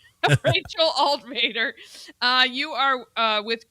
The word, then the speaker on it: Altvater: It's Alt Vader, like Darth Vader.